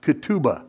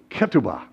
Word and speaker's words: ketubah: You may have heard it pronounced ketubah. That's Yiddish. Hebrew, ketubah.